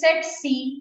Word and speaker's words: tsetse: It is Tsetse. So you can see here, it is Tsetse. Pronunciation is Tsetse, but T is silent.